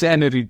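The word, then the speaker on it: n-ary: is not usually pronounced if you want to pronounce it fine enough so it's enery trees okay so enery trees means the n stands for the number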